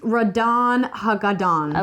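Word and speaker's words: Ratonhnhaké:ton: It's pronounced Radon Hagadon.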